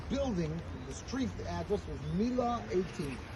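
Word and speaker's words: Miła: The street address was Mila 18. Really it's an a W. It's spelled with an L with a long Polish. The W in Polish is a V.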